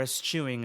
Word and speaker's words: eschewing: So let's say, because terrorists are going to find ways of, eschewing, or eschewing is the right pronunciation of that word, the process.